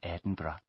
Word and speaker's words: Edinburgh: of course I'm from Edinburgh can you spell that for me please yes it's e d i n b u r g h thank you and where